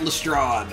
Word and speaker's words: Lestrade: Inspector Garrett Lestrade.